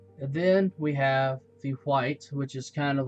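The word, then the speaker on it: wight: there I have um a white which is spelled w i g HT and a gast in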